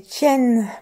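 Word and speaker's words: 天: Alors, on dit Tsun pour le vent et Tien pour le ciel.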